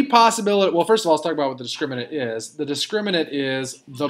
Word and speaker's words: discriminant: need to pronounce carefully it's called the discriminant the discriminant not discriminate discriminate is what happens